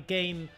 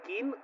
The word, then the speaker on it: Kane: verdad Cómo se dice yo siempre llamo kane porque es kane no Harry kane ciudadano kane es que es kanin no kin por qué me ponen